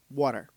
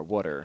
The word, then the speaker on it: water: little bit I think how do you say water then water water like a d like there's three d's in the middle of w h u d d d e r water sure and coffee so